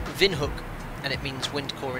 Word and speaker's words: Windhoek: well cont appr sorry wind Hoke is pronounced Vin hook and it means wind